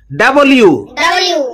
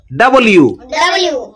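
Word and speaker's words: W: ডাব্লিউ, ডাব্লিউ, ডাব্লিউ। এটাকে অনেকে ডাব্লু বলে, ডাব্লু হবে না, ডাব্লিউ।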